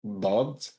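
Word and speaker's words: ض: If I'm saying dod, I am rolling my tongue against the first row of my teeth, like the upper row of my teeth. I'm building pressure, but and then once enough pressure has been built, then I release my tongue and it kind of hits the lower row of teeth.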